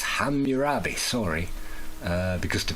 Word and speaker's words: Hammurabi: So it could actually read like hamabi because it's a capital A. So ham is not how you pronounce it.